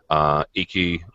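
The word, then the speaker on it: Eiki: Iki, or Ike, depends on how you say it. I've heard it both ways.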